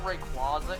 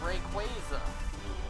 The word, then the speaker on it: Rayquaza: say it that way it's not rayquaza it's rayquaza you know like quasar rayquaza the anime never said rayquaza i mean yes as a kid i thought it was rayquaza as well but that's